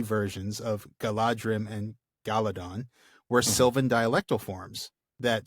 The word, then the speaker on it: Galadhon: Galadhon.